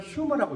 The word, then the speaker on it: humor: 우리가 HUMOR이라고 했는데 우리 한국 사람들이 유머라고 있죠. 미국 사람들에게 읽으라면 휴머라고 읽어요. H가 묵음이 아니에요. 근데 이제 원래 휴머라는 말의 뜻이 혹시 뭔지 아세요?